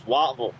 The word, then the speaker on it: Whiteville: It's spelled Whiteville, but down there it's Wattville.